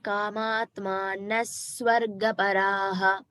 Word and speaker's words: कामात्मानः स्वर्गपराः: Bhagini, it is Kamatmanaswargaparaha.